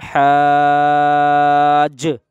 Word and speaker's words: حاج: الف جیم مد زبر حاج، اس میں ہجے کرتے وقت میں جیم کی آواز آئے گی حاج، ہا نہیں، اگر کوئی بچہ